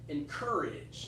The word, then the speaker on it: encourage: It's that R sound again. I heard a little bit of a different sound. I heard koi or something. Koi. But it has to have a hard R in there. Encourage. That's what my American accent is.